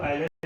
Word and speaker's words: Euler: Gravity and pressure वाली यूलर्स equation of motion. इसको आयलर equation भी कहा जाता है। मैं प्रोनाउंसिएशन में यूलर्स इक्वेशन यूज करता हूँ, प्रोनाउंसिएशन में आयलर इक्वेशन भी बोला जाता है।